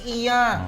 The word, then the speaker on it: Iya: you call Tito Snow tell him that the pronunciation is my name is Iya oh it's Iya Iya kinet ka bata na yan eh.